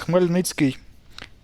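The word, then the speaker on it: Khmelnytskyi: So it's Khmelnytsky.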